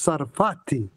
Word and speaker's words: Sarfatti: I pronounce it. It's SARFATTI. SARFATTI. It's no R.